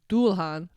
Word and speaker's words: Dullahan: It's spelled Dullahan. Dulhan.